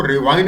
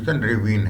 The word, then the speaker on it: ravine: जो रेविन रिक्लेमेशन है इसको कई लोग रेविन को रिवाइन भी बोल देते हैं तो प्रोनंसिएशन वैरी करता रहता है लेकिन मैं इसको रेविन ही कहूंगा करेक्ट वर्ड इसका प्रोनाउंस रेविन है तो वड रेविन मीन